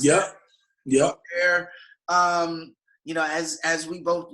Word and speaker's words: Gobert: Is that how you pronounce that? Yep. Gobert.